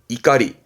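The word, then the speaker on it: 怒り: 이유는 요거를 명사화 시켜서 분노를 말할 때 이때 발음은 이가리 이까리 오꼬이가 아니라 이갈이가 됩니다 분노는 이까리 뭐 분노를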